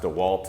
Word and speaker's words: DeWalt: I know it's pronounced DeWalt, I just wanted to make all you DeWalt freaks out there mad.